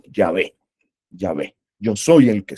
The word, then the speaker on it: Yahvé: que soy finalmente yé como se escribe y se dice yahvé no Jehová sino yahvé yahvé yo soy el